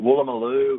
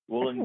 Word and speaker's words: Woolloomooloo: Yeah, we've got Woolloomooloo, we've got Woolloomooloo Woolloomooloo, so you know, here's James Schramko